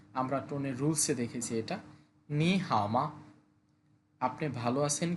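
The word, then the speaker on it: 你好吗: লিনা বলতেছে লুইফিং মানে লুইফিং নি হাওমা নি হাওমা দুইটা থার্ড এজন্য প্রথম টোনটাকে সেকেন্ড টোনে ধরে বলতে হবে। আমরা টোনের রুলসে দেখেছি এটা। নি হাওমা আপনি ভালো আছেন কি?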